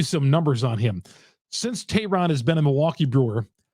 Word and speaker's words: Teheran: inning and could not hold it but Julio Tehran right off the top Julio yeah I said